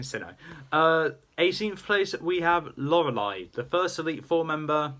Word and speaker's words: Lorelei: 18th place, we have Lorelei, the first Elite Four member that most people were gone against. Not my first, the first one I went against was Aaron. But Lorelei is the proper original, one of the original